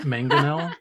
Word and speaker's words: mangonel: It's pronounced mangonel, just for everyone at home, in case.